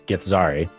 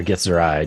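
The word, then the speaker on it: Githzerai: uh first off he's get sorry or gets her eye depending on how you want to pronounce it um so kind of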